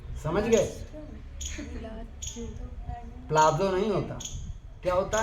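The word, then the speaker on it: palazzo: और जानते हम स्पेलिंग जब भी इंग्लिश में डबल जड होता है तो उसका उच्चारण कभी भी ज नहीं होता ज होता प्लाजो लेकिन प्लाजो बोल दो तो भी ठीक है प्लाजो तो बिल्कुल गलत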